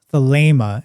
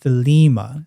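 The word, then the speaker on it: Thelema: But in classical Greek, that's pronounced as an a sound.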